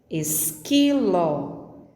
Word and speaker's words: esquilo: Ouça: queijo, esquilo, leque. A letra U não é pronunciada nessas 3 palavras.